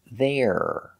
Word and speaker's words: they're: to they are contraction they're it's a small sound but it's very important to make that R sound there there going to